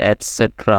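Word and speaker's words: etc.: ইটিসি ইটিসি মানে হচ্ছে এসেট্রা মানে ইত্যাদি হ্যাঁ এটার উচ্চারণ হবে এসেট্রা ইটিসি বলতে পারো এসেট্রাও বলতে পারো মানে ইত্যাদি মানে আরো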